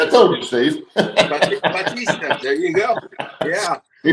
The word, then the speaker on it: Bautista: Like Steve said, we want to welcome, and it's Bautista. Yep. Bautista. Yeah, I told you, Steve. Bautista.